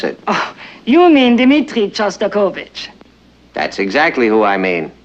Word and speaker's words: Shostakovich: compose language that'd be going we're hearing a sauce turbo kit you know that Shostakovich and since you're a